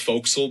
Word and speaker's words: forecastle: It's pronounced foaxle because we don't know how to pronounce anything right, I guess.